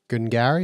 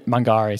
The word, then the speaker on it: Mungari: They're doing a mill expansion at Gungari. Is that how you pronounce it? Yeah, I mean Mungari.